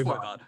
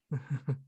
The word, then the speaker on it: Voivod: and sounding like an idiot, but I think that Oh it's yeah, it's Voivod. Voivod.